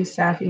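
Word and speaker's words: Safie: one I found was Saffy Saffy how I pronounce it and it means well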